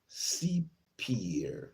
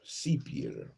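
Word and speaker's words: cyprière: R E Sier sepion sepier the sepier it's pronounced sepier seepier and it means in the context of the lower Mississippi valley sepier is a cypress swap refers to the Cypress swamps.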